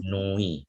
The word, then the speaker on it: nuit: Jadi nuit ya, ini bukan nuit tapi nuit ya.